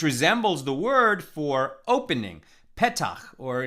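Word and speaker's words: פתח: the word for opening pettach or in ashkenaz pronunciation pesach so we say is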